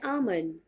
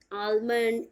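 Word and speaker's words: almond: डी पर भी आप बहुत स्लाइट स्ट्रेस दें और एल तो आपको बिल्कुल भी प्रोनाउंस नहीं करना है। आलमंड, एलमंड, ऑलमंड, what ever, आपको कुछ भी नहीं, आपको एल साइलेंट रखना है, आमंड, क्लियर है, जिसे आप हिंदी में बादाम बोलते हो।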